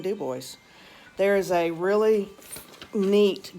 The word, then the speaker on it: Dubois: it's called dubois but in louisiana we would call it dubois for our cajun french pronunciation but up there it's just plain dubois there is a really